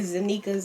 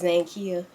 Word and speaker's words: Zankia: the X right there because they say zanikas and Kaya all that but my name is zankia so that's why the